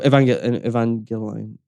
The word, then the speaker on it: Evangelion: So Evangelion, that's how you pronounce it.